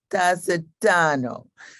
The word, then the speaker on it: Tasetano: i gotta tell you how she told me to pronounce her last name dacidano so nice for you